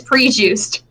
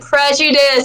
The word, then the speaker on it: prejudice: And apparently during the Monster Prom, prejudice was there, and I mispronounced it as prejuice, and Aaron was with us, and he said prejudice, and I'm like, God damn it, not again!